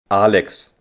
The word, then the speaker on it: Alex: Germans pronounce Alexander Alexander and how do they pronounce Alex Alex Alexander comes from the Greek and it could